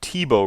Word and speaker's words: Thibault: And if you've never read what Thibault wrote, and that's how you pronounce his name, he wrote this article way back in 1956, so actually 60 years ago.